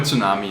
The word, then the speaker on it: tsunami: Oh yeah, the word tsunami is Japanese, yeah. And in Japanese, it's not silent. You do say the T in Japanese.